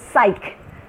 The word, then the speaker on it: psych: Pizza and this is the P is silent it is psych psych and this is